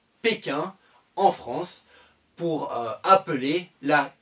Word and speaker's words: Pékin: pas p jing un on ne dit pas beijing ont dit pékin on dit toujours pékin en france pour appeler la capitale chinoise shanghai et pékin un visa étudiant dans